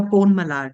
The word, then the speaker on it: Ponmalar: Ponmalar, did I pronounce it correct?